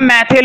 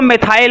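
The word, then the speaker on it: methyl: Spelling का ध्यान रखना, कुछ लोग इसको मिथाइल ऑरेंज भी बोलते हैं, तो बोल सकते हैं, प्रोनाउंसिएशन मैटर नहीं करती है, मैटर करती है स्पेलिंग।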